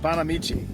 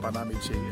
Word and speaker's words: Banamichi: the word looks like bonamichi and that's how a lot of people pronounce it but it actually is Accent on the second syllable one thing I really like about panamichi is the peace and